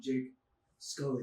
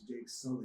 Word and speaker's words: Jake Sully: It's not Jake Scully. It's Jake Sully. That's the what I way call it's spelled.